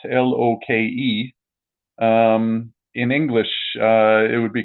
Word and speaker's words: Loke: that's like the nordic loke but um because it's spelt l-o-k-e in english it would be confusing it'd be loc because in scan in scandinavian you pronounce the e yeah because you have